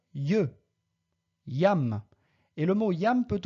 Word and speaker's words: iam: Litera J, pronunciatur je. Yam.